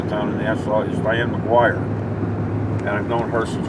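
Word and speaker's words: Maguire: It's not a Mick, it's McGuire.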